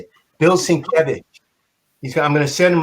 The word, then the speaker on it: Sienkiewicz: His name is Sienkiewicz. That's how you say it? Bill Sienkiewicz.